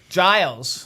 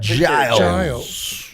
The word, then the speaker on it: Giles: Giles. Yes, sir. Giles. I had to make sure. I made sure I didn't want to pronounce it wrong. Did I say Giles? You said Giles, yeah.